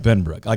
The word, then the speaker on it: Benbrook: How's he going to pronounce it? Benbrooky.